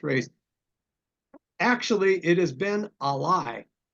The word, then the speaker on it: Ben Ali: actually it has been Ali is how you pronounce this race it's Al ah hyen l i e first run in 1917